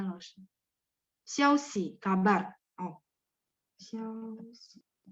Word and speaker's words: 消息: Xiaoxi. Xiao-nya nada 1, xi-nya 5. Xiaoxi, kabar, berita ya.